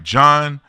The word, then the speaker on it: John: want to make sure I said your name right John is that how you say it yes sir you're doing wonderful with that I need to add